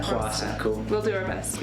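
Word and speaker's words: Hwasa: Wasa? Wasa.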